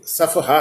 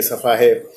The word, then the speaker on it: सफ़हा: वो शब्द सफ़ा नहीं, सफ़हा है, 4 मात्रिक है। यहाँ उन्होंने जैसे कि आमतौर पे बोल देते हैं सफ़ा मोड़ दिया, ये सफ़ा है, तो वो सफ़ा नहीं होता, सफ़हा।